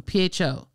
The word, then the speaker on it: pho: okay we're in trouble so i always say it wrong pho say it yeah is it fun totally okay if it sounds like the beginning of a bad word you're right it's been on my